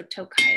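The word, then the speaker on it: Tokaji: and it's spelled it's pronounced toe like your toe on the foot kai so tokai is what we're drinking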